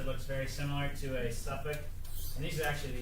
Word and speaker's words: Suffolk: Suffolk is how you pronounce it. Suffolk, England.